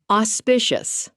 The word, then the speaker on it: auspicious: Auspicious. Pronounced aw-spish-us.